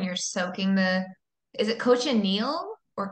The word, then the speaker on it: cochineal: soaking the is it coach anneal or cochineal it's cushineal cushioningo that's how Jose pronounced it was like a instead of a CH more of an sh kosher meal kosher meal